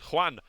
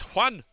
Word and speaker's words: Juan: But Prince Juan, it's Juan. Oh, right. So I can pronounce Juan.